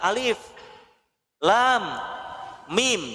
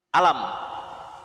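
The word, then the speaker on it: الم: dibaca bukan berdasarkan tulisannya. Kalau berdasarkan tulisannya dibacanya bukan alif lam mim tapi apa? Alam.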